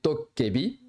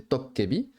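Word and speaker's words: 도깨비: Alors, à savoir que je dis Dokkaebi parce que vous m'avez dit en commentaire il y a un certain temps que de le prononcer de la véritable manière qui est Tokkebi, parce que c'est comme ça, normalement ce sont des Tokkebi, c'était pas plaisant apparemment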